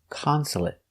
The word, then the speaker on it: consulate: 3 syllables. The stress is on the first syllable. Consulate. Consulate. Also finish with a stop T. Consulate. Not consulate, but stop T.